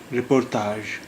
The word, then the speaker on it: رپورتاج: رپورتاج. اس میں بھی ژ کی آواز جی سے نکل رہی. جی کا جو تلفظ ہے یہاں پر وہ ژ کا ہے.